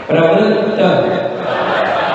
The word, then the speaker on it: प्रवृत्त: विगत शक्ति रपि प्रवृत्त प्रवृत्त ये शब्द ठीक से बोलिए, हल्के से ना छोड़िए।